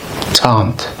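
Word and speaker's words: tand: Welsh, even though you pronounce it quite a bit like the Welsh one, tant. It's the T sound at the end.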